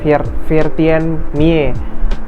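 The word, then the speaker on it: Veertien Mie: Mie ya bukan mi bacanya virti mie itu 14.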